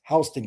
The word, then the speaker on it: Houston: There's Northside, there's Warner Robins, then it's It's spelled Houston, but it's uh called pronounced Houston County.